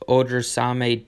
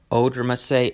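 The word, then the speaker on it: Odrisamer: The matchup is amazing against Odrsame Despaigne. Proud of myself for saying that correctly. Odrsame, all right, first time I said it right, second time I did not.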